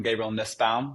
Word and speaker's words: Gabriel Nussbaum: Hi, I'm Gabriel Nussbaum. That's how you pronounce it, Cruz.